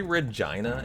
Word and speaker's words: Regina: It rhymes with vagina. I was taught that. Yeah, I learned that yesterday, Ducky. Did you know how to say Regina?